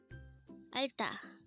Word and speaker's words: 알다: ALDA.